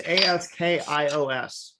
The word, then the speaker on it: Askios: So how would that be pronounced? Like what? Afkios? Askios, yeah. Askios.